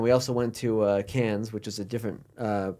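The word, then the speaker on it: Cairns: scary coming down we also went to uh cans which is a different uh part uh look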